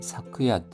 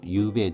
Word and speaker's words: 昨夜: 발음이 사크야 유배에 두 가지가 있습니다. 공식적인 자리에서는 사크야라는 발음을 주로 쓰고 일상적일 때는 유베라는 발음을 사용한다고 합니다.